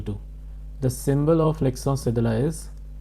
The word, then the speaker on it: cédille: This is pronounced as l'accent cédille.